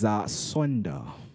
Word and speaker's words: sonder: So let me spell it for you. Okay. It's SONDER. And that's Sonda.